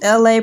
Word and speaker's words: ELA: This is LA, pronounced like LA, like the city.